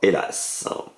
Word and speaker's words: Hélas: Donc on vient de voir Hélas. Hélas, hélas. 2 syllabes.